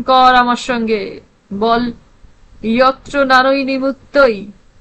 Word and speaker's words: যত্র: বল, ইয়ত্র নারী নিমুত্তই। ইয় ইয় জ নয়।